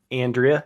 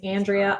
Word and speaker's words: Andrea: on the fact that Andrea is the worst name in the world it has three pronunciations Andrea Andrea and Andrea um so it can